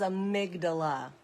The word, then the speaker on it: amygdala: word how do you say it correctly the pronunciation of amydala amydala amydala amygdala the word is amygdala there we go now we know how to